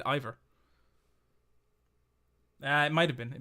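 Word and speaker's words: Iver: Oh no, but they pronounced it earlier in the game and they said Ivor. It was actually they said it. They said Ivor. So that's why I'm pronouncing it like that.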